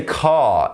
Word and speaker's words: car: car a state car so when we say car in British English we don't say the r like in American English we pronounce the a as H it's it's quite a lazy sound in the mouth